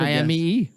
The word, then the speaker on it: Aimee: A-M-I, that's And I would've AIMEE. A-I-M-E-E. Aim. That's right. Aim-E. Yeah. Like a weapon.